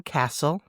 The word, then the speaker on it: castle: There's a T in castle between the S and the L.